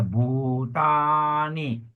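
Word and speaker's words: bhūtāni: suwati oke very good ya one long a ya butani butani long you also butani butani yes don't forget long a there ya oke well done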